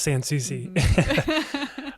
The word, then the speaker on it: Sansouci: person at a time will learn how to pronounce sans susie um very good so also i just want